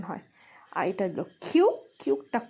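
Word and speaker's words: 키읔: এটা হলো ছিউত, ছিউতটা ছ বা সি এইচ এর মতো উচ্চারণ হয়। আর এটা হলো খিউ, খিউকটা খ বা ক এর মতো উচ্চারণ হয়।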